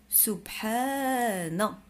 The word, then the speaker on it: سبحان: إذن سبحاء سبحانا نا. عندنا حرف النون في آخر الكلمة سبحانا سبحانا، عنده فتحة. هذه كلمة سبحانا سبحانا سبحانا سبحانا سبحان الله، لفظ الجلالة الله ولينا عارفينو.